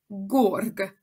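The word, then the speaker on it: گرگ: It could be garg, gerg, or gorg. So here in the dictionary, you can see first the word again, and then you can see the pronunciation here. And you can see that the first gof contains an O, so the pronunciation will be gorg.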